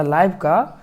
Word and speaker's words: live: यानी, 'छोड़ देना' या 'लाइव' दो उच्चारण हाँ। मैं 'लीव' पढ़ूंगा। या 'लाइव' मैं पढुंगा।